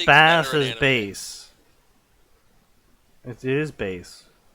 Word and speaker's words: Bass: I always pronounce him as Bass, because in the original Mega Man games, when they first added voice acting, they pronounced it as Bass.